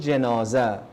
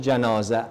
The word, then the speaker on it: Janazah: The proper pronunciation is Salatul Janazah, not Salatul Janazah. Arabic is a very delicate language. If you pronounce it Janazah, it means that the coffin that they put the mayyit on and carry. If you say the janazah, it means the mayyit that is in the coffin.